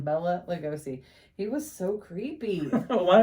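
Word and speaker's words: Bela Lugosi: dracula was played by bella lugosi is how he pronounced his name bella lugosi he was so creepy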